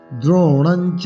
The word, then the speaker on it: দ্রোণঞ্চ: কথম ভীষ্মম অহম সংখ্যে, সংখ্যে, সংখ্যে দ্রোণঞ্চ, এই দ্রোণা মধ্যাহ্ন আছে, অনিশ্বার আছে, পরে চ আছে, চ বর্গীয় বর্ণ, তাই অনুষ্ঠটাকে ইয় করে ইয় চাই বলতে হবে।